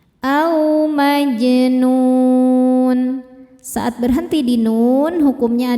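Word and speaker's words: مَجْنُونٌ: Jimnya hukumnya qalqalah sughra karena jimnya sudah sukun asli dan berada di tengah bacaan. Dibacanya memantul, pantulannya kecil. Au majnun.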